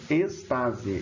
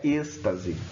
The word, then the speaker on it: estase: faz uma estase gástrica então spaze esse é a pronúncia correta não é êxtase êxtase outra coisa tá mas são só